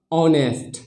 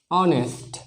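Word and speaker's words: honest: जाएगा क्या हो जाएगा किसी भी वॉवेल के पहले ह आता है तो ह का उच्चारण नहीं किया जाता है तो जैसे की ओ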